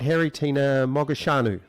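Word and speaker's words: Haritina Mogoșanu: now i think i got your name right harry tina mogashanu that was perfect pronunciation excellent that's a good start to the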